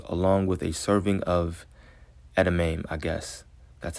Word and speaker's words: edamame: 8 wakame rolls, along with a serving of edamame, That's how it's pronounced.